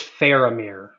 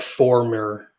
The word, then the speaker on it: Faramir: or d david winham kirby his name is faramir just so you're aware the correct pronunciation what did i say you said like former former yes sorry that is that papa west